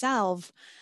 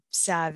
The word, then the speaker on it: salve: freaking out and going I thought that word was pronounced salv it is um in in the UK and parts of the US but uh Sav is also an acceptable pronunciation um you have probably